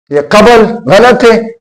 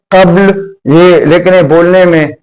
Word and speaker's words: قبل: آپ دیکھیں قبل، قبل، یہ قبل غلط ہے، قبل، قبل، قاف کے اوپر زبر ہے اور بے کے اوپر الٹا جزم ہے، تو قبل، قبل نہیں،